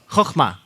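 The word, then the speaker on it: חכמה: So the KH is the ch letter in Hebrew. Choch, right? Choch, chochma. So why don't you say it with me? Chochma.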